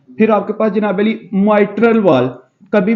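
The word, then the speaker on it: mitral: कहते हैं इसका नाम जो सही वाला है वो माइट्रल वाल। क्या इसकी प्रोनाउंसिएशन क्या है, माइट्रल वाल।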